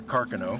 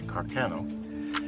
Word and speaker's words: Carcano: This is a 6.5 millimeter Carcano. That was the proper pronunciation, although most Americans say Carcano.